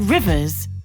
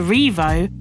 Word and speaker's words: Rievaulx: of valley meaning valley its old local pronunciation was simply rivers and slowly changed to revo when education of the